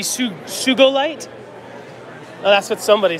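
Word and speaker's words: Sugilite: In Japan, you pronounce G as go, not J. Interesting. So would it be Sugolite?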